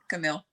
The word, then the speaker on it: Kamille: than everybody else actually how do you pronounce it camille okay all right well